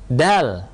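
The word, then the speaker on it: دال: sebelum ada harokat ini namanya huruf Dal bukan do dan seterusnya ya huruf qaf bukan qof Nah ini maksud dari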